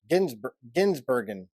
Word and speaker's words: Gisbergen: Or I think I've got Shane Van Gisbergen. Gisbergen. Bergen. It's not Burger. You'd think I would know it because we've been talking about him for a long time. It's Shane Van Gisbergen.